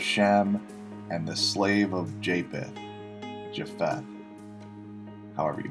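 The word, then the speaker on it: Japheth: with Noah's Three Sons Shem ham and japeth jath or yath as it's sometimes pronounced The Offspring of these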